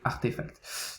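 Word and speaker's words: RTFKT: comme vous voyez ici rtf capter qui se prononce donc artefacts donc voilà très intéressant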